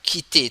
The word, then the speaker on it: quitter: But quitter, to leave here. To quit. Okay. And then 5. This is the word with Q with letter Q. And then we have to pronounce K.